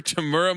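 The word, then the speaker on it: Temuera: this guy's name Tamera tamura tamura now it's tamura Morrison hey Zach it's not today it's not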